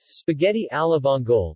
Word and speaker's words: spaghetti alle vongole: spaghetti alavongol pronounced spa-etti al of olay italian for spaghetti with